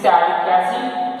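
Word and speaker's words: phthalic acid: This is thalic acid, PH, THA, thalic acid. PH is silent.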